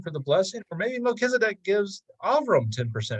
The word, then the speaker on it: Melchizedek: Then we have Melchizedek is how it's pronounced.